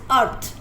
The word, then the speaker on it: earth: इसमें जो फर्स्ट वाला ई है दैट इज साइलेंट, और इसकी साउंड ए की साउंड अ आ रही है.